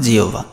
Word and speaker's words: জিহ্বা: বয় আকার আছে, তাহলে আমরা হয় ব থাকলে বলেছি ও ভ দিব, তাহলে এখানে দেখো এই যে হয় বর জায়গায় জাস্ট ও ভ, আর আকার তো ছিলই জিহ্বা জিহ্বা, এটা হলো সঠিক উচ্চারণ।